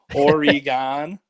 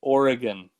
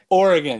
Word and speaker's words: Oregon: have, where they say Oregon, but I think she's trying to get you to say Oregon, which is the pronunciation. Oregon, yeah. There's no like E sound in there, Oregon, but I'm not a stickler for it.